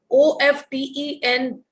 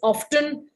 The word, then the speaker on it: often: talks about his job o f t e n um sometimes differentiates in in speaking so some places it is often some places it is often both pronunciations are absolutely correct so you can see